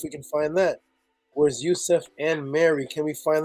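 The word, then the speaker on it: Yosef: now the way to pronounce Joseph in Hebrew because there's no letter J would be Yousef or Rusev Youssef or Rusev so Yousef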